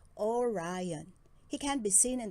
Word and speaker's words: Orion: The Hunter's name is Orion. You say it like this, Orion.